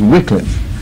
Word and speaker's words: Wycliffe: to change it to a wickliff because I was brought up the wrong way with that I need to change some of you folks on Augustine you're brought up Augustine in the dictionary's first pronunciation is Augustine so why can't I change if I was born of Wycliffe but the dictionary's first pronunciation is Wycliffe a little biography he